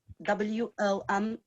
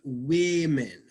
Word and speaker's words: women: WOMEN. Yeah, and it almost sounds like the pronunciation is usually women, like an I sound, women.